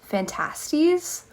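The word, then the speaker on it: Phantastes: this one is called I think it's pronounced fantasties but I'm basing that off of someone else that I heard say it so don't quote me on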